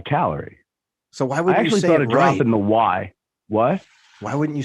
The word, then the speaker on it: Callery: Off of that though, we've got Callery, but not like the energy measurement, like calorie, like from the Emerald Isle. Right. Callery is how they would say it over there. Callery, but how do you say it? I say calorie.